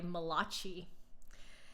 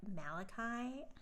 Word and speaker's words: Malachi: school one of the teachers called Malachi mulashi and me being this little you know the little smartass ten-year-old that I was raised my hand and said it's pronounced Malachi do I regret saying